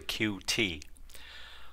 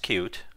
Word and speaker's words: Qt: said actually I'm pronouncing cute wrong it's actually QT well it's actually it's pronounced cute and let's start by looking at the Wikipedia